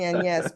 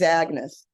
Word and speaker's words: Agnès: I'm only saying Agnès because it's Europe, you know. In America, she's Agnes. Right, I'm happy to stand corrected.